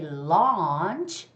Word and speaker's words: launch: celebrate celebrate celebrate and when you read the word launch it is different from what we eat lunch lunch large you see the difference the one that you eat is lunch lunch so you don't necessarily have to open up your jar it's just lunch lunch okay but when you say launch you have to open up your mouth as well as your